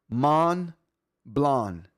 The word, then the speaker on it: Montblanc: Don't pronounce the T and the C. So, it is man blonde.